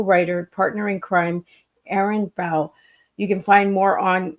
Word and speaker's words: Bow: Well, my last name is actually pronounced Bow, not Bow, but a lot of people get that wrong.